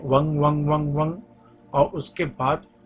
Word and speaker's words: वं: एक मिनट तक करें याद के ऊपर बिंदी लगी हुई हनी चाहिए जो उसका जब करते हैं वो इस तरीके से की वन वन वन वन जी साइलेंट हो जाता है और नाक से बोलना होता है शुरू करें की